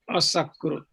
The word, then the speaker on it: असकृत्: See this little sign here, like comma, that pronounced as a, so it becomes asakrut.